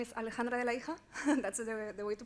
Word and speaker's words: Alejandra De La Hija: So yeah, as my colleague was saying, my name is Alejandra De La Hija. That's the way to pronounce it, so you are not that far away.